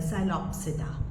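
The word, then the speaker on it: Psilopsida: यहां पर आती है पहली क्लास है साइलो पसिका पी साइलेंट है यहां पे साइलो पसिका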